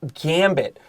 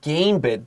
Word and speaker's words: gambit: opening moves in chests pay attention to the word gambit don't say game bit this has a short a now what is a